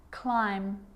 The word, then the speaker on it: climb: romantically musically logically now there's a rule to remember with the letter B it's always silent when it follows the letter M climb Krum lamb thumb dumb and plumber so practice them with me I'm not pronouncing the B I'm just pronouncing the M consonant sound climb Krum lam some